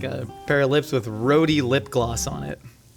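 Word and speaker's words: rhode: It's like a pair of lips with roadie lip gloss on it. Is that how it's pronounced? Roadie. Just road.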